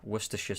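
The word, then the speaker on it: Worcestershire: So, uh yeah, worsha sauce is Oh, actually, this might have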